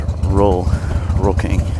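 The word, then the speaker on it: Rull King: Here you just say R-U-L-L. Roll King. That's really the only correct way to pronounce it is Roll King.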